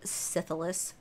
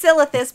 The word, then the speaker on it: Silithus: more of the syphilis syphilis yeah it's silithus but I always say syphilis and then a half